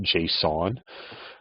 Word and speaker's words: JSON: going to import a library called JSON it's pronounced JSON and it stands for JavaScript object notation and